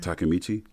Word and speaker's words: Takemichi: Takemichi.